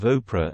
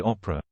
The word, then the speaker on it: Oprah: and hit out at his pronunciation of Oprah as he said Opera she fumed ID like